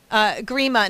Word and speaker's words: Grima: your website at Grima now I want to make sure people understand how to spell your last name gr I ma even though you pronounce it kind of with two E's it's gr IM a